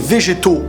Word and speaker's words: Vegeto: en fin de compte c'est Vegeto pour la prononciation française et beito pour la prononciation pardon japonaise parce que Vegeto le V tu mets un B bito le E tu dis un i à la place et